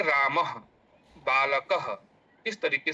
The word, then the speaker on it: रामः: इनका उच्चारण अस उनका उच्चारण जो है ह के समान हमें करना चाहिए। ह जैसे रामः बालक इस तरीके से ह के समान इनका उच्चारण होता है।